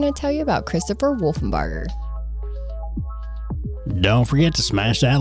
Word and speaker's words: Wolfenbarger: Now, today we're going to talk about a guy whose last name is hard to pronounce, so Haley calls him Waterburger. Sorry, but it's Christopher Wolfenberger.